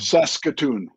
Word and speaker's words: Saskatoon: So, that's how you pronounce it. Was it Sasokun? Sasokun. Saskatoon.